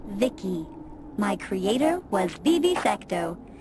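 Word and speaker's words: Vici: transistors by the way i'm v-i-c-i pronounced vicky my creator was bibi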